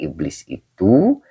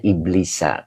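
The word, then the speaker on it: إبليس: Pak Haji Muhammad, dibaca iblisi. Tidak Pak Haji. Ini dibacanya iblisa. Karena isim goiru munsorib. Isim yang tidak menerima tanwin. Jadi kalau isim yang tidak menerima tanwin itu, kalau ngejer, maka tanda jernya itu fathah.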